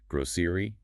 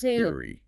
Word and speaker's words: grocery: Some people say it with a clear ez sound in the middle, grosseri, and others use more of a she sound. Geri gceri. Both are completely fine.